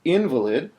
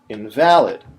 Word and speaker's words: invalid: I might be talking about a person who's physically incapacitated if I say invalid, or something that's no longer valid, like a coupon that's expired, if I say invalid.